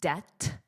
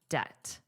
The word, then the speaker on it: debt: Notice the pronunciation, debt. The B is totally silent. Just don't pronounce it. It does not exist. It's just debt.